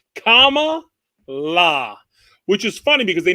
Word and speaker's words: Kamala: right but apparently uh tucker carlson said it wrong and and was getting the wrath today so i guess it's comma la which is funny because